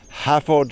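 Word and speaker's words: Hafod: mail order from you yes visit our website have odd cheese that's h a f because f is pronounced v in welch have on cheese you can buy our cheese yes or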